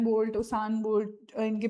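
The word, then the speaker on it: Usain: यूसैन bolt, उसान bolt इनकी pronunciation है, आप सभी ने इनका नाम जरूर सुना होगा।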